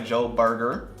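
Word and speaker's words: Joburg: I'm feeling more like a Joe Burger I I found out that's how you say it and that I experienced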